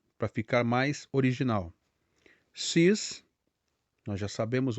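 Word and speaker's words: six: pronúncia a pronúncia é sis veja que a letra x no final ela tem um som semelhante ao s ou Z então fica sis como é que a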